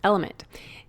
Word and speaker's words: LMNT: one of our sponsors, Element. It's spelled LMNT, but pronounced Element.